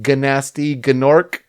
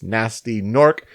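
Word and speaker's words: Gnasty Gnorc: We must note that Nasty Nork is spelled with G's at the beginning of it, so it looks like Ganasty Gnork, but it's Nasty Nork because he's half gnome and half orc.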